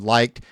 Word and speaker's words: Like: We had a few of her colleagues there, a young guy named Liked. His name's Like. That's how you pronounce it.